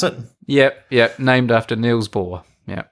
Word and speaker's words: Bohr: Is that how you pronounce it? Yep. Named after Niels Bohr.